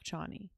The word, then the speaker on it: Chani: But Paul, I think, does love Chani. Or is that her name? Did I say that right? Shawnee, Shawnee. I think is it. That's it. I think it's spelled with a CH, but it's pronounced SH.